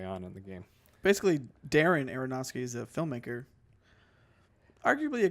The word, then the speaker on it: Darren: in the game basically Darren Aronofsky's a filmmaker arguably a great filmmaker but he's kind of a hit or miss sometimes and his name basically just rhymes with daring instead of Darren and so I just